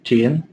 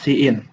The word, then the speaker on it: cin: Lalu chain. Nah, fungsi chain ini Oh, bentar-bentar. Ini dibacanya cin.